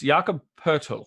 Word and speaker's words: Poeltl: How do you say Podol? It's Jakob Poeltl.